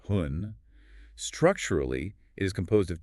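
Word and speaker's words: 婚: He points specifically to the Chinese character for marriage, which is pronounced hun.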